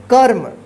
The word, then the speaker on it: क्रम: उच्चारण होता है, लेकिन जिस पे इस तरह से लगा रहे रेफ की मात्रा, तो ये जो है ना जिस अक्षर पे लगा रहता है उस अक्षर पे उच्चारण नहीं होता है। उस अक्षर से पहले जो है ना जो अक्षर रहता है उस अक्षर के बाद जो है ना आधा र का उच्चारण होता है, जिसको पढ़ेंगे कर्म और इसको क्या पढ़ेंगे क्रम।